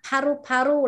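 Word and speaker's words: paru-paru: Còn paru paru là phổi. Pa nhé, đọc bật hơi không phải là pha. Pa, đọc bật hơi cho cô.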